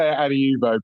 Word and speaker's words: Adiuvo: Is it Adiuvo? No? We say Adiuvo. People say it many different ways.